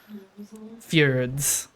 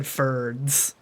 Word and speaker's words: fjord: Fjords. It's a Nordic word, and he said it wrong. No, Fjord, F-Y-R-D. He said Ferds. Like Phineas and Ferb.